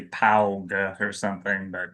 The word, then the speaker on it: Paugh: P. It sounds Yeah, it sounds just like an animal's foot, but it's spelled differently. So, like it looks like you'd say pa or something, but it's that's how it's pronounced.